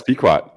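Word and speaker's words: Pequot: Here's where I get in trouble and I start listing and the pronunciations. Uh, it's Peekquat, right? Yeah, it's Peekquat.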